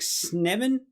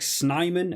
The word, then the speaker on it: Snyman: don't miss pronounce wrong I believe it's like sniven as opposed to like snyman as I'm sure I always used to call it I think it's a little bit shorter in the pronunciation uh but an absolute